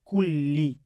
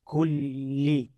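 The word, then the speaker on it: كُلِّ: Okay, so here you can see I'm having a word called kulli. Automatically you heard me repeating the lam sound twice, kulli.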